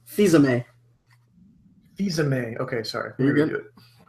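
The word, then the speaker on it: Fils-Aimé: Fizame.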